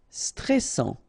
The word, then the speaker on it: stressant: Stressant. Okay, final T not pronounced, and then A-N-An, stressant.